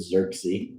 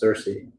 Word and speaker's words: Cersei: I said it right. It sounded like you said Xerxes. No, it's Cersei.